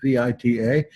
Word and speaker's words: Vita: Josephus wrote a work called Vita, or Vita in Latin, V-I-T-A, pronounced Vita.